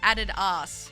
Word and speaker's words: Adidas: just found out that Australians pronounce Adidas like aded ass do you say Adidas